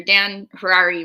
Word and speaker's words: Harary: have to do your Dan Harari rhymes with Ferrari Dan Harari rhymes with